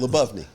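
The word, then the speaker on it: Lyubovny: I've never pronounced it. I've seen a bunch of that. Lebovny.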